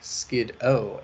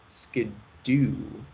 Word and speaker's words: Skiddo: This is reinforced by the pronunciation in the English-speaking dub of the anime, being less like Skid-O and more like Skidoo.